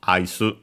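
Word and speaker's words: アイス: So ice accented on the first syllable as expected could be either from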